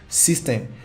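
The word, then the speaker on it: systeme.io: case may be but it is called system s y s y s t e n e dot i o but it is pronounced system so you get this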